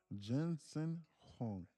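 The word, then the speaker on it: Jensen Huang: Jensen Hong.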